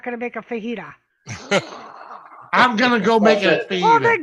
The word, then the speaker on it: fajita: now than silent either it's Spanish to Dave make an egg sound like Jose right it's fajita not Vegeta fucking what up gestapo